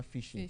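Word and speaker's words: phishing: You know uh fishing is of course is spelled p h i s h i n g but it is pronounced as a normal fishing catching fish.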